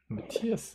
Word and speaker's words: Matthias: Matthias，那他 H 是不发音的哦，对，德国人是个爆破。And once the crew members are all